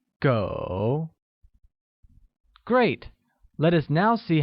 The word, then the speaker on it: 狗: Dog translates to go, which is pronounced with a falling rising tone. Once again, it's go.